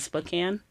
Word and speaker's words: Spokane: a church, and I don't know how to pronounce it. Spokane.